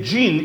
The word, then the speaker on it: jinn: They spell it G-I-N, whereas it's J-I-N, al-Jannu. So it's a jinn, it's an al-Jannu in other forms.